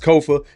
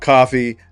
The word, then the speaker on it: Kofa: Once again, I am your humble host, Kofa. Ko FA, not coffee, not Kufu, not Kofi, or any variation thereof. Kofa rhymes with sofa.